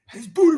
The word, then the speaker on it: Boutte: It's Boutte, man. It's Boutte, man. Come on, bro. It's bout, yo. It's bout. Right.